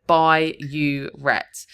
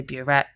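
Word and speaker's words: burette: One common mistake here is writing bureet instead of by uet. They will accept if you've spelled it incorrectly, but phonetically it sounds the same. But I was split up here to try and help you remember. By don't say boret, you're going to lose the mark.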